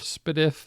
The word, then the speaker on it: S/PDIF: like spit if I I think that is the incorrect pronunciation for the way the letters are but that's what I call it no that's right it's s/pdif spit if that works i like spit if